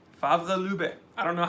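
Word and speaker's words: Favre-Leuba: Favre Lube. Favre Lube.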